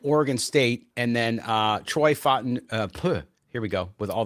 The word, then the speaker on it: Fautanu: But you have Joe Alt there, Taliese Fuaga from Oregon State, and then Troy Fautanu. Here we go with all the Pacific Islander names. What'd you say, Mo? Fautanu. Yeah. Fautanu.